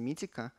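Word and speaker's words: Meetecho: назвать это компания заводиться митико пишется здесь немного не так но они советуют произносить их именно так и делают они такой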